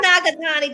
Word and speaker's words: Nagatani: Is it Nagatani? Did I pronounce it correctly? You did. Perfect. I always tell people, I'm like, it's phonetic, just sound it out.